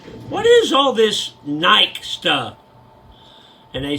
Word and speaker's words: Nike: what is all this Nike stuff and they said Rick it's called Nike and I said it's spelled Nike so they discontinued shotguns